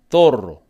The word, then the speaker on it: zorro: And they would say zorro.